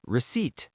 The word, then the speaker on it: receipt: Next word, receipt. The P is silent.